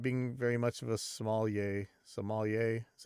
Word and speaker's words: sommelier: But he didn't tap the wood, so he's not being very much of a sommelier.